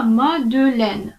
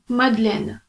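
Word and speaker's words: Madeleine: кому вимовляємо як його Або вона взагалі не вимовляється раніше ця назва зупинки звучала мадюля але оскільки французи зазвичай цю і не вимовляють і щоб це було природньо все ж таки тепер ці зупинки звучать як шатлі медленне тобто ця і вже випадає такс наступний шостий факт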